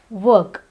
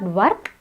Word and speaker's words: work: The next word is work. It's not work, it's work. Here, the R is silent.